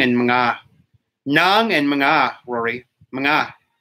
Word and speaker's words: mga: I pronounce the NJ and yeah, it's Nang and Mga.